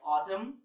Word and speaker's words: autumn: combination of MN but in these words the letter n is silent and you have already seen the examples like autumn column damn him okay